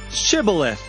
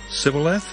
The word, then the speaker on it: Shibboleth: When he said, No, they said to him, Then say, Shibboleth. And he said, Sibboleth? For he could not pronounce it right.